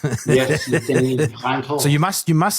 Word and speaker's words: Denis: By the way, it's Denis with a silent S because he's Canadian and French. Yes, Denis.